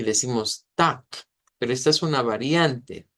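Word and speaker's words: Tag: la palabra día y ya sabemos que termina con g pero se pronuncia con k y decimos Tac pero esta es una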